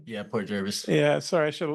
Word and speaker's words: Port Jervis: Port Jervis am I saying it right yeah Port Jervis yeah sorry I should have looked it up